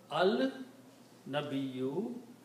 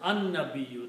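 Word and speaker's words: النَّبِيُّ: Al-nabiyyu will pronounce as an-nabiyyu. That's the reason I put a shadda there. An-nabiyyu, the prophet, because noon is a harf shamsi letter, so it will change the sound of lam.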